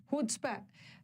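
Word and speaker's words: chutzpah: हुड्सपै, सी silent है, HUTZPAH।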